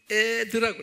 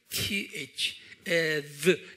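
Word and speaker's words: עת: 자, 두 번째 시간 개념이 뭐냐면요, 때 개념이, 유대 말로는 에드라고 그래. 에드. 영어로 만약 쓰는 분들 ETH. 에드. 그러니까 드가 그냥 우리말로 디귿이 아니고 TH, 에드. 뭐 이런 게 들어가 있어요.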